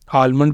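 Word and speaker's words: almond: ही है जहां पर जो ब्रिटिश है वह इसको साइलेंट रखते हैं एल को लेकिन जो अमेरिकन है वह इसे प्रोनाउंस करते हैं तो इसको आप किसी तरह भी बोल सकते हैं यह आपकी मर्जी है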